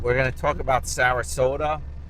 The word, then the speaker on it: Sarasota: going to talk about Sarasota rhymes with Yoda also known to drive and like Toyota now he's driving forward